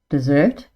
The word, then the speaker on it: dessert: Dessert is the sweet course that we eat at the end of a meal.